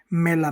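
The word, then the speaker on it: mela: क्या कहते हैं चेहरा मैला मेला यानी सेब एप्पल सेब को क्या कहते हैं मेला तो ई का उच्चारण होता है ए की तरह एफ एफ का उच्चारण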